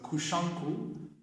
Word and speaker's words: Kushanku: He was a Chinese ambassador sent to Okinawa by the Chinese imperial government His Chinese name was Huang Shangfu, pronounced by the Okinawans as Kushanku, read by the Japanese as Kosokun.